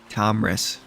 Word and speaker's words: Tomris: It's not hard to pronounce. It's just how it looks. Tomris. It's exactly how it looks. Tomris.